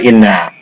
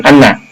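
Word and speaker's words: إنّ: Kemudian la rasuluh, ini khobar inna. Nah itu khobarnya itu ada laman, nah maka dibacanya inna bukan anna.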